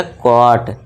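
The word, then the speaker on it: caught: तो देखिए सी के लिए हमने का लिख दिया। ए यू के लिए हमने क्या सीखा अभी क है ना जब आ जाए तो औ का साउंड बस ऊपर चंद बिंदु लगा दी अ हो गया बस और जी एच टी के लिए सीखा हमने अभी ट का साउंड देना है तो ये हो गया ट और ये हो गया कॉट तो आपको इस तरह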